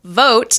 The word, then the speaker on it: Vought: Okay, Russell Vought, the proper way to say it.